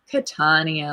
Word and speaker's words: Catania: say your last name catanio catania yeah so second syllable yeah and i mispronounced